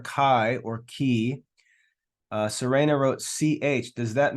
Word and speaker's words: chi: Okay, so that's the letter key, and it's pronounced like the CH in chorus or character or choir.